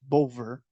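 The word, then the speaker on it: Bulwer: concluded between American Representatives John Clayton and British plenty potentiary Sir Henry bullber bowler Boulder b-u-l-w-e-r could be pronounced bover W as a v on April 19 1850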